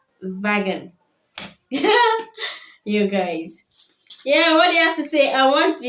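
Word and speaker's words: Volkswagen: that one at least it's because of the F and the W that is there that's why we call it folkswagen not knowing that is Vagen you guys.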